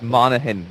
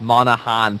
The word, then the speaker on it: Monaghan: It's Monaghan, not Monahan. Say it right.